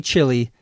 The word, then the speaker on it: chili: you can eat chil chili in Chile we used to say stuff like that when we were kids same pronunciation three different spellings isn't English wonderful the